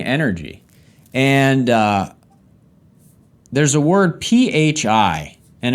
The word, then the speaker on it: Phi: and there's a word pH I and it's pronounced Phi like fly like fi and it's kind of